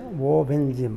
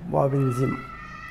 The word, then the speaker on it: Wobenzym: এটা উচ্চারণ হচ্ছে ববিনজিম, মানে স্পেলিং হচ্ছে WOBENZYM, ববিনজিম।